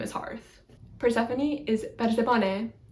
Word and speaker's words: Persephone: Persephone is Persephone, Persephone. I want to say Persephone, but it's like a short, the omicron is a short O, so it's not like